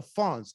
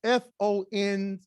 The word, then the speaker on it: Fons: And there's a group of people up there called the Fons, F-O-N-S. If you remember what was that show that came on in the 80s? Happy Days, remember that? Remember Henry Winkler was playing the Fonz? So that's how they say it. It's the Fons, they're called Fons.